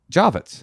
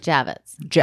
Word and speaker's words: Javits: First of all, you're pronouncing it wrong. Javits. Javits. I think it's Javits. I think we can. I think the ladies in the house can agree that it's Javits.